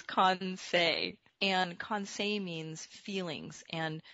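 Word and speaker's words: Kansei: from japan and i was uh i was mispronouncing it at this other conference i was saying kansai and it was so funny because i'm japanese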